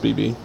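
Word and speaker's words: BxB Hulk: fan favorite BB Hulk, BXB, but I've heard it's pronounced BB, has taken on a separate darker identity while acknowledging that he wrestles under both names.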